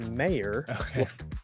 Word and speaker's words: Mayer: know up front uh my last name is pronounced mayor of May I can't tell you how many times people have called asking me about Oscar Meyer hot dogs totally fine and